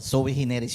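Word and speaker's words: sui generis: special proceeding ang natawagan nila soe hineris no soe hineris which is spelled as su i su i g e n E risaning to say one of its kind.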